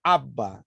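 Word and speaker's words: Abba: dizer papaizinho em hebraico papai aava tem quase a mesma pronúncia mas o aramaico se pronuncia aba então baseado nestas três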